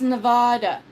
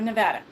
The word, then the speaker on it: Nevada: same thing because um people want to go oh it's Nevada no we're Nevada wa a no it's not tomato tomato it's not nvada it Just anyway cuz it's the way it's spelled people um I know